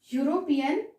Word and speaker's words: European: For example, European lady. Though the spelling starts with E, means a vowel, but it is pronounced with U, Y, U, and it is consonant sound.